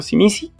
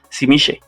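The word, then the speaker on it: Tzimisce: Yo me yo trataré de regresar a la pronunciación del libro y regresar a llamarlo Simisi por alguna razón.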